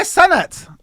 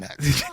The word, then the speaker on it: Cenat: Kai Sanat is Kai. I'm saying his Kai name wrong. Cenat.